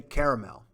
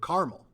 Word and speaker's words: caramel: might find yourself so i'd say caramel right some people pronounce this word carmel um some regions although very few use the two interchangeably right the distinction and you